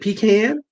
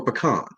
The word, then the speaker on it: pecan: Is it pecan or pecan? Ooh, it's both. It's regional.